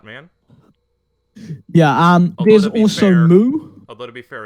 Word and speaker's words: MW: There's Moo, pronounced MW, which is Tezuka going very dark.